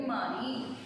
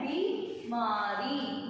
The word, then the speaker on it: बीमारी: यहाँ पर भी हमने क्या गलती की थी कि बीमारी में हमने छोटी की मात्रा लगा दी क्योंकि हम उसका उच्चारण ऐसे कर रहे हैं बीमारी, लेकिन वो होता क्या है? बीमारी, बड़ी की मात्रा।